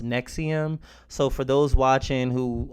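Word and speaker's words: NXIVM: this video I'm referring to the cult as index IBM and X IBM I didn't learn until after making this video that it's pronounced Nexium so for those watching who already know about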